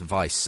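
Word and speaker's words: Wiebe: chapter is by Philip I think it's pronounced Vice uh w-i-e-b-e um he is a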